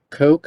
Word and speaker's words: Koch: and I have three names of authors Coke I hope I'm pronouncing that correctly uh Hannah cherry and Cameron Hines so my name is cook and I'll be presenting with uh Hannah Cherry